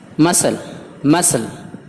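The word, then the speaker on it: muscle: Saint اس میں بھی سی خاموش ہے، عطر۔ مسل پٹھا۔ ڈسپلین نظم و ضبط۔ ڈسینٹ نسل خاندان۔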